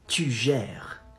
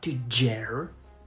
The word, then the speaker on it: tu gères: You say, tu gères. Tu gères. Not to gère. Gère. Gère. R. Comes from the throat.